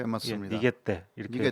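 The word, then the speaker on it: 逃げて: 그러니까 일본 말로 읽으면 니게떼인데요. 교수님 맞죠? 예, 예, 맞습니다. 니게떼 이렇게 니게떼.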